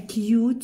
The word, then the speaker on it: cute: and at the end the silent e cute you and silent e at the end sued you and I so what did who made for Duke she made for it a cute suit look here can